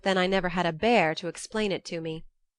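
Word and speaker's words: Bhaer: at his horrid name it isn't pronounced either bear or beer as people will say it but something between the two as only Germans can give it I'm glad you both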